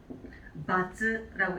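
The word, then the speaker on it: 罰: 그래서 요거를 이제 음독으로 읽어주게 되는 바즈라고 읽어주시면 돼요.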